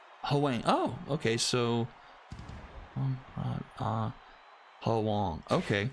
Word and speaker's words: Huang: English to Chinese, pronounced like Huang.